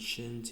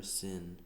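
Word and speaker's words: ש: to be shin, and shin's either going to be pronounced shin or sin. If the dot is on the right side, then it makes all the sh sounds, like in Shabbat or Shalom.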